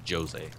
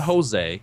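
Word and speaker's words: José: Her name is Rita, and my dad's name is Jose. Jose? Yeah. Nice. Not Jose. A lot of people think Jose. No, he's Portuguese. We pronounce the J's in Portuguese.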